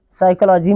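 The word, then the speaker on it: psychology: ये P silent रहेगा जैसे पी के बाद एस साइकोलॉजी में आया है पी के बाद यस आया है यहां पर हम उच्चारण यस से शुरू करेंगे अर्थात सा से शुरू करेंगे साइकोलॉजी पढ़ने हैं इसको तो पी यहां पर साइलेंट रहेगा साइलेंट क्यों रहेगा क्योंकि इसके बाद ए रहा है यस और जहां पी के बाद आता है एस वहां पर पी होता है साइलेंट उसका उच्चारण नहीं करते हैं इसको हम पढ़ेंगे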